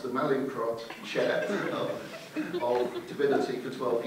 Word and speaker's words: Mallinckrodt: reliably informed by colleagues on my table is pronounced the Mallinckrodt Chair of Divinity for 12 years.